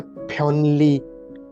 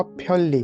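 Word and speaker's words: 편리: Spelling तो है फ्योनली, फ्योनली, लेकिन उच्चारण उसका होगा फ्योली। क्यों होगा? क्योंकि ना पाछिम के बाद अगले सिलेबल में ला आ रहा है।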